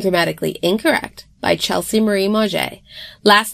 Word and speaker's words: Mauger: Diaries, Unedited and Grammatically Incorrect by Chelsea Marie Mauger. Last name is spelled capital M-A-U, G as in great, E,